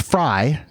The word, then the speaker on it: Frey: uh just real quick it's pronounced fry his last name but it is spelled yeah anyway Derek uh